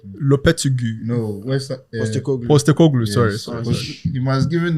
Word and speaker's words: Postecoglou: I can't pronounce the name. Can you help me? Lopetegui. No, West Ham... Postecoglou, yes.